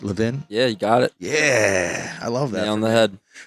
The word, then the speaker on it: Levin: Say it right, Levin?